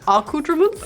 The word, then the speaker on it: accoutrements: Accoutrements? Yes, that's how it's said.